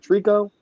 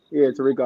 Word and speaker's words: Tirico: Was it Trico? Mike Tirico? Rico. Yeah, Tirico.